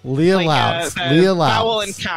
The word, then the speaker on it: Lea Lauks: and i should have asked you how to pronounce your name laura oh not laura even lee uh leah lau leah laughs yep okay the first rule in podcasting always